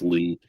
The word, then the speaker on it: Lea: Or is it Lay? It's Nicholas Lee or Lay. I forget. Who played Krychek? I think it's Lee. Yeah. It's pronounced Lee.